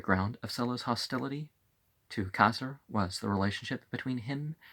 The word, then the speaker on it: Caesar: The AE as ah, and the C as a K sound. In Latin, you pronounce it that way. In Italian, you don't, but, so we don't say Caesar if we're going to give it a Greek or a Latin sort of pronunciation.